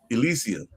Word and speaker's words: Elysium: How do you pronounce it again? Elysium.